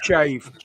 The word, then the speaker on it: Shave: Well, Shav. How do you say it? It's not Shav, is it? Or Shavy? Shave. Shave.